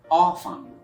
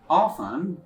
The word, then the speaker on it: often: here so it's debt then you can have a word line often it is also pronounced like often both are correct so you can either say often or often what number to leave